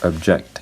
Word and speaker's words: object: word object the word object is a verb so for the word object the the first syllable is unstressed the second syllable is stressed and and that means